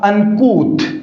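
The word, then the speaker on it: uncouth: ये जो वर्ड है हमारा, इसका करेक्ट प्रोनाउंसिएशन होगा अनकूथ।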